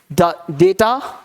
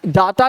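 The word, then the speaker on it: data: मॉन्क नहीं, मंक, क्या बोला हमने, वीडियो, डेटा, मंक, है ना, डाटा नहीं, डेटा, मंक।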